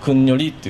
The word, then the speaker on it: 国直: でそこをあの方言でくにりっていう風に発音しますでヨア